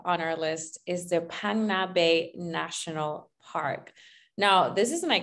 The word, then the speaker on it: Phang Nga: Now, next up on our list is the Phang Nga Bay National Park.